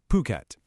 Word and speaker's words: Phuket: And just so we're all on the same page, it's pronounced Phuket.